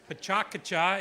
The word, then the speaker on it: PechaKucha: here so as we like to call it pachucha but pachaka is the actual pronunciation but it's our it's our night so